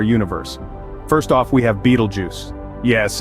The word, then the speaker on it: Betelgeuse: giants in our universe first off we have Beetlejuice yes it's a mouthful but this star is worth every syllable located in the constellation Orion Betelgeuse is a supergiant meaning it's even larger than